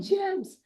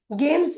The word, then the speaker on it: gems: जब कभी भी जी इस अक्षर के बाद पी या आई या वाई आता है तो हम उसका उच्चारण ग ना करते हुए ज करते हैं। इसीलिए GEMS होता है जेम्स। गेम्स नहीं होता है, क्या होता है?